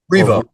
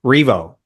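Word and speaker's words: R.E.V.O.: So, is it pronounced Revo? Like Revolution? Revo. Revo. That's I'm like, "Okay, I have a 50% chance here. I'm probably gonna get it wrong." So, Revo Revo is how you pronounce it.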